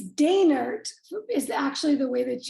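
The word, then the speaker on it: Doehnert: and Don on stage yeah it looks like donut it looks like do Don o e h n e r t yes yes but it's pronounced derer derer okay wow she's pretty awesome but I've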